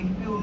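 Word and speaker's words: impugn: in challenge that emo इम्यून नहीं है इम्यून है जी साइलेंट है तो इंप जजमेंट केम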